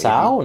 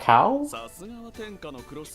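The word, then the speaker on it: Zhao: It's actually pronounced Sao, not Cow? It is the Chinese pronunciation, I know, yes.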